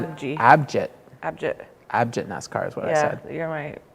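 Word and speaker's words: Abhijit: Abnik Naskar. Abnik Naskar is how you say that? Yeah. I don't know. How'd you say it? I think I said Abji. Abjit.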